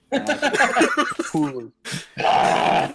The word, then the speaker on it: Cthulhu: So Cthulhu, if you want to be that guy, pronounce it correctly, is pronounced Cool.